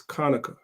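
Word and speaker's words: חנוכה: chapter seven verse 9 the word there is Konica which is how you say Hanukkah that's why I said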